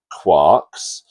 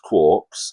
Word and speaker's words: quark: from the off that I pronounce the word quarks, but I have heard it pronounced quarks, and people will passionately claim that their pronunciation is the correct pronunciation. In truth, it doesn't matter whether you say quarks or quarks. It really doesn't matter.